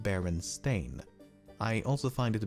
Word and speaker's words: Berenstain: know what they were secondly in their autobiography one of the creators of the berenstain bears mentioned how an elementary teacher did not believe baron stain was a real surname and instead called him bernstein thirdly the son of